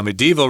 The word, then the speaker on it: medieval: and witness the well-preserved medieval city walls from above now medieval refers to the Middle Ages this word can be pronounced medieval by sneaking another syllable in there but no one does it though yeah I've never said